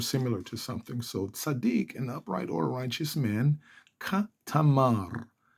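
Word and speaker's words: צדיק: sadik Kar Adonai sadik two syllables sadik Kar karar if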